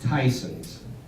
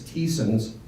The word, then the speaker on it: Tyson's: people that don't know and it it is pronounced Tyson's there's a lot of people think it's Tess uh Matt would you stand up Matt is